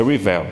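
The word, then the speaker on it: Rivail: Pessoal que é francês diz que a pronúncia certa é Rivel, eu não sei francês, meu francês é lá do Ceará, não sei nada de francês, nada.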